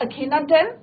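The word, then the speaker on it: Akhenaten: नाम क्या रखा उसने अपना, अखेनाटेन, राइट, अखेनाटेन, राइट।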